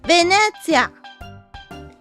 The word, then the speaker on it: Venezia: How is the Italian city Venice properly pronounced? Venezia. Venezia. Venezia. Venice. Venezia. Simple, right? Yeah.